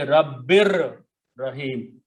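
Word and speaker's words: رَبٍّ رَحِيمٍ: You do not pronounce noon, but you pronounce this ra twice to put a shadda. So this time it will be Rabbir Rahim.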